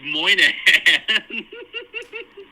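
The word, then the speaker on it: Moynahan: like 10 seconds to figure out how to pronounce Bridget Moynihan's name. It's Moynihan.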